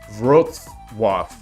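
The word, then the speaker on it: Wrocław: In English it is said as Roswaf. Roswaf.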